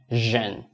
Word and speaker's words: 人: So actually for this 人, you can make it into Asian. So this part, when you say Asian, 人, so in that case, you are going to make the pronunciation easily.